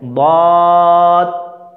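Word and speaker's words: ضاد: লিখলা উপরে একটা শুধু নুকতা বাড়ায় দাও, এটা দদ হয়ে যাবে, কী হয়ে যাবে, খুব সহজ না, সোয়াদের উপরে একটা নুকতা বাড়ায় দিলে কি হয়ে যাবে, দদ হয়ে যাবে। তাহলে উচ্চারণ করো আমার সাথে, দদ দদ, ওটা সোয়াদ, এটা দদ দদ দদ, স্লেট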